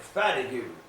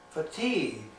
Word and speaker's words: fatigue: she was calling it fat you I said prob I said that's not a fat of you that's fatigued and she pronounced a